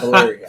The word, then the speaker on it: Valeria: Just remember it rhymes with malaria.